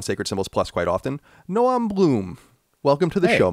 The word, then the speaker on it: Noam: mostly because of Chomsky, who does pronounce his first name Noam. Right, and so people tend to assume that's the correct way. But yeah, it is more Noam, which is more the sort of Israeli type pronunciation of it.